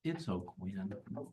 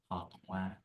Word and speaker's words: Oquin: It's O'Quinn. I mean, if you want to do the French, it comes out more like Aquin, Aqua? Aquin. It's too hard. Just O'Quinn, Okay.